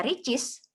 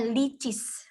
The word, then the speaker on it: Richeese: Dia tidak dibaca Richeese, tapi dibacanya Licis, gitu.